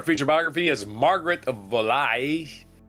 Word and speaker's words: Valois: Our feature biography is Margaret of Valois. Uh Valois, Valois, v a l o i s, Valois, Valois. I don't need to pronounce her s's in France.